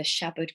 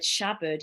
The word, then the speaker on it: Shabad: And if you break down the word Shabad, Sha actually refers to the ego, and the bud, it's spelt bad, but it's pronounced bud, means to cut through.